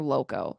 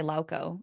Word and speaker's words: Lauko: but it's spelled Lauko, I would say Lauco. I've only ever right? heard Lauco.